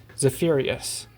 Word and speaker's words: Zephyrius: Zephyrius. I finally know how to pronounce that name. I've been saying Zephyrus or whatever it is.